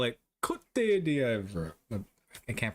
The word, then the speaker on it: Côte d'Ivoire: In French with the typical French pronunciation, Côte d'Ivoire. Côte d'Ivoire.